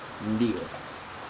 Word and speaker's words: ndio: Pronouncing ndio is not that difficult. It's like just saying ndio, but you make a slight N sound at the start of it.